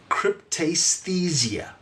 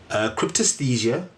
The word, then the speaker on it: cryptaesthesia: So the definition of extrasensory perception is aka a sixth sense or cryptesthesia. That is spelled CRYPTAESTHESIA.